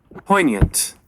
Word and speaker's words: poignant: Well, the next word is poignant, poignant. Poignant. It looks like the G is silent.